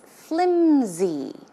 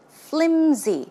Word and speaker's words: flimsy: see the pronunciation is flimsy flimsy it's not pronounced with an S sound but it's closer to